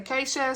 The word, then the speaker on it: Geesje: We got, and the names are Dutch, so it's hard to know how they say it, but it's spelled Geesje, but they say Keisha, so I'm gonna say Keisha.